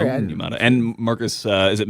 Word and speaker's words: Onyemata: And then I came to find out that I was saying David Onyemata's name wrong for 3 years also. It's David Onyemata. Sorry. Onyemata.